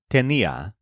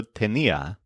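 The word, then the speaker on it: tenía: common first of all the imperfect forms all stress the syllable KN so I had is Tena he she it ored had is also tenia you had is tenas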